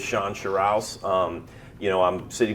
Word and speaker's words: Shawn Sherrouse: okay yeah so um you got my name right and pronounced it correctly because not everybody gets that I get a lot of Shan shus and uh and and so it is Shan shuss um you know I'm